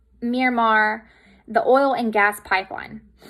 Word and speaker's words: Myanmar: I think it's pronounced Myanmar, the oil and gas pipeline.